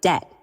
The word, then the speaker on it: debt: So, we end up with words like debt spelled with a silent B thanks to Latin influence, island with a silent